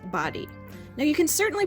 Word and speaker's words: Bodie: So we asked a park ranger at the Body Island Lighthouse, and she advised us that it is pronounced Body.